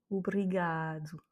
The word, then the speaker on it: obrigado: Et enfin, obrigado. C'est bien le A qui est intensifié.